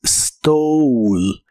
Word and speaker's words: stole: La O se pronuncia como O y la E del final no suena. Así que es stole.